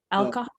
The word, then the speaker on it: alcohol: It's an O-O, alcohol. Alcohol. Okay, alcohol. Yeah, because the H is completely silent in Spanish.